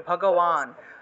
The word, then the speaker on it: ভগবান: এটাকে কিভাবে উচ্চারণ করবেন এই যে অন্তস্থব ভগবান উচ্চারণ হবে ভগবান ঠিক আছে এই যে